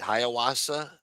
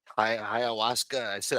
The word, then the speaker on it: ayahuasca: Yeah, because I mispronounced what the fuck she was, and I didn't know how to say it. Ayahuasca. Ayahuasca.